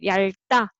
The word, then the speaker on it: 얇다: And this one can want to be carried over, but there's a consonant, so you make a tense. So 얇다, 얇다, and however, following is zero consonant, then you can read everything.